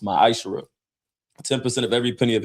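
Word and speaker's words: מעשר: It means 10th in Hebrew and is pronounced myisher.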